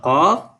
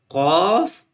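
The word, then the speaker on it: قاف: And like qaf is a bold letter, and kaf is the soft letter.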